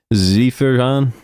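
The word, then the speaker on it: Zerjahn: bullpen looks like Ryan Zephyr is it Zephyr Zephyr Han it's Z e r j a h n so pronounce that however you would expect zeran Ryan from the Angels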